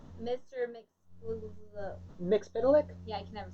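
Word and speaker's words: Mxyzptlk: Mixpidalic? Yeah, I can never say it. Can't say it? Mixpidalic? It's been, that's how they say it in the Superman animated series.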